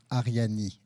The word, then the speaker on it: Arianee: foreign co-founder of a project called aryani a-r-i-a-n-e-e so it's pronounced whatever so today we're going to talk